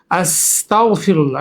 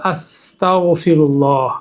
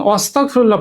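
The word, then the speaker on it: أستغفر الله: যেটাকে আমরা বাংলায় উচ্চারণ করতে পারি ক, খ, গ দিয়ে। আস্তাগফিরুল্লাহ।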